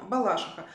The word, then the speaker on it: Балашиха: падает ударение есть стишок Мы едим в Балашиху на машине с ветром Лихо Если уж на то